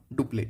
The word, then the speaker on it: Dupleix: याद रखना कि जो डुप्ले है ना, डुप्ले स्पेलिंग है डुप्ले, DUPLEIX, इसको बोलते हैं डुप्ले।